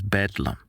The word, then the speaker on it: Bedlam: The name was shortened to Bethlehem Hospital and later pronounced as Bedlam, where the term used to describe a scene of disorder and chaos came from.